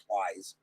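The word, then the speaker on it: Pleis: he'll go up against bill police or plies i don't know if that's i think it's probably about plies i'm pretty sure it's pronounced plies bill plies runner on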